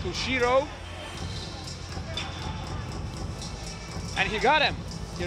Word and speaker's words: ushiro: In karate, it is pronounced like Ushiro.